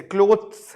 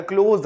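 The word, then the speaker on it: clothes: जैसे क्लोथ्स है ना, क्लोथ्स, तो क्लोथ, CLOTH, क्लोथ, तो TH नहीं आता, क्लोज आता है, क्लोज.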